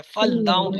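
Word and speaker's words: فلّاح: هؤلاء مهندسون محندسون، محندسون، تلفظ پہ توجہ رکھیں۔ حاذا فلاح، فلاح، هؤلاء هؤلاء فلاح ہؤلاء فلاح، دیکھیں یہاں پہ شد کے ساتھ ہے، فلاح، لام پہ شد ہے۔ حاذا مجتہد، حاذا مجتہد،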